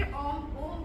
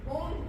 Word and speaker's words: ओम: ओम कैसे शब्द बना है, आ उ ओ ओम, लास्ट में तो ओम पूरा रहता है, ये सिर्फ माँ रहता है ना। तो आ उ और माँ, तीन चीजों का उच्चारण करते हैं। सबसे पहले आ, फिर उ, फिर माँ। तो ये तीन कंप्लीट शब्द बनाते हैं ओम को।